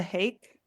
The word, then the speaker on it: Hake: I am on Twitter and Blue Sky at What the Hake, rhymes with cake, What the Hake.